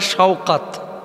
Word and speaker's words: শওকাত: তো বাংলা ভাষাভাষীরা আমরা আসলে উচ্চারণ ভুল করে থাকি, নামটা সাকাত হয় না, হইতে পারে শওকাত।